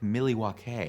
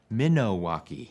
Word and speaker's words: Milwaukee: in the region it might originally have been pronounced more like miley wakey a couple bonus misconceptions there the real pronunciation might be more like minowaki and while alice says